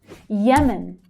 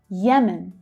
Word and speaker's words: Yemen: Yemen, Yemen. Again, that Y sound, but the stress is on the first syllable. Yemen.